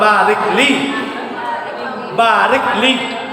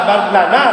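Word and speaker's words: بارك لي: Di barik li itu berkah, keberkahan. Di kita meminta berkah di saat maut. Tidak balik lana, no.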